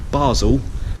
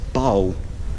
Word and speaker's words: Basel: Europeans call this city Basel the locals call it Bowl they kind of miss the S out so it's just pronounced Bowl this is Basel Minster